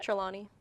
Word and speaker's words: Trelawney: Is that how you pronounce it? Trelawney.